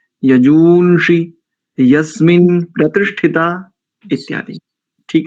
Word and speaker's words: यजूᳫंषि: ऐसे ही अनेकों स्थानों पर यजूनषी, यजूनषी, यस्मिन्ना प्रतिष्ठिता, ऐसे नहीं, यजूंषि, यस्मिन प्रतिष्ठिता इत्यादि।